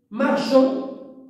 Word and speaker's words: marchand: finale du masculin exemple marchand marchand il y a le D on le prononce pas mais il existe mais